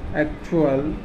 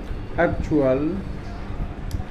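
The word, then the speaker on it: actual: तो हम देखते हैं दोस्तों, उच्चारण फर्स्ट टी का च, ए सी टी यू ए एल एक्चुअल, एक्चुअल, एम यू टी यू ए एल म्यूचुअल, सी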